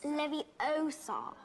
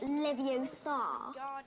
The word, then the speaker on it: Leviosa: Besides, you're saying it wrong. It's Leviosa, not Leviosa. You do it then if you're so clever.